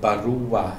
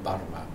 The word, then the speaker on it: barua: These I find interesting too, but that you really get barua instead of barwa. They are saying barua.